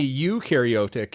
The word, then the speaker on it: eukaryotic: no for prokaryotic and you is you and me eukaryotic and i'll i have